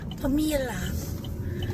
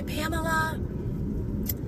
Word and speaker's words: Pamela: Everybody pronounces my name as Pama. So when I go through the drive-thru and say Pamela, nobody nobody can understand.